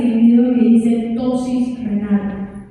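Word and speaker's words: ptosis: Hay una palabra que dice en el video que dice tosis renal. Tosis renal comienza con P, se escribe P, tosis.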